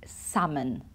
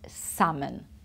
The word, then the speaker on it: salmon: say the L it's salmon ok I don't want to say it wrong so don't want you to make mistakes so remember we don't pronounce the L it's salmon bees even though it's